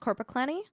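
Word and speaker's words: Korpiklaani: I think the most metal that I've listened to has been uh I think you it's pronounced corpaclenny.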